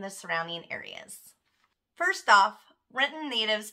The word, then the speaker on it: Renton: First off, Renton natives pronounce it Renton.